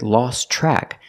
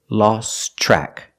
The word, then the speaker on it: lost track: time you hear with lost track that Tian lost is silent because it's between consonants so you hear lost track the TRN track is